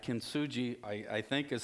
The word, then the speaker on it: Kintsugi: Kintsugi, I think, is how it's pronounced.